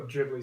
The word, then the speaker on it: Ghibli: like a Studio Ghibli movie that I'd give like a 10 out of 10. Ghibli, by the way. Oh, Ghibli, sorry.